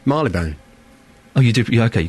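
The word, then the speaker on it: Marylebone: Marley Bone. Oh, you did. Okay, you got that one right cuz somebody I'll give it that. It got It's Marley Bone. Marley Bone. Some people say Marle Bone.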